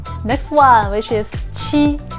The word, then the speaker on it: 七: It is similar but different, okay? So if you can speak 七, that is great. If you cannot at the moment, think about cheat, okay?